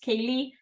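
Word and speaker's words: ceilidh: For centuries, communities scattered in remote areas in the Highlands held informal gatherings called Silades, pronounced Cayley, meaning, Cayley?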